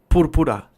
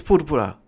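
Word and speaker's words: púrpura: porur porur in Spanish in Spanish purpura it's purpura in Spanish purple Mor purple right you can say it both ways but it's purpura maybe maybe we have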